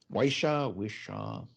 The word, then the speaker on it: Whishaw: Ben Whishaw, I think is how you pronounce his name. Wishaw.